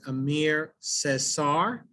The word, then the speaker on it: Aimé Césaire: but his name is amir cesar did i pronounce that right deacon exactly and uh so at